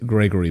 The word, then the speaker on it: Grzegorz: I should point out I'm using the the Western pronunciation of of your first name so to my polish viewers I apologize but I've triy I tried for like 10 minutes for your polish viewers my name is Gregor I I said